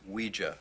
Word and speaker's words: Ouija: Ouija. What? It's pronounced Ouija.